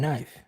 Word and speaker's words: knife: any sense at all there's a k and knife yeah but it's silent and night it doesn't